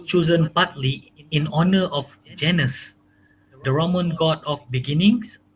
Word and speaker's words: Janus: Uh, It is Janus. Yeah. Remember, it is Janus. Janus. Okay. You pronounce it correctly. Janus.